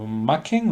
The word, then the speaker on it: Machen: es un escritor galés que se llama Arthur Machen o Machen, en inglés se pronuncia Machen, pero si el apellido es galés, pues posiblemente se pronunciaría Machen.